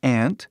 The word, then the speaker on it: aunt: Tem aunt, que é essa palavra aqui, e aí tem uma outra palavra que tem a mesma pronúncia, que é essa palavra aqui. Só que essa outra palavra, ant, que se pronuncia, né? Ant, significa formiga. Entendeu? É o mesmo som, né?